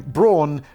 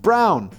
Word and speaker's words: Braun: But in fact, the surname is pronounced Brown. It's just a weird German spelling that compels many people outside of Eva's native country to distort it to Braun.